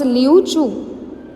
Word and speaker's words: Liu Chu: See this is Chinese name, तो ये ऐसा ही होगा. Okay, we have to pronounce as लियू चू.